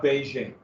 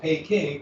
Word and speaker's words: Beijing: especially the capital of Beijing and the the embassies were in this um walled section of Beijing which everybody then outside of China called pay King because the British mispronounced it and that's where we